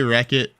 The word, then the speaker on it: Rechot: I say wreck it, but you know, it's it's up to you.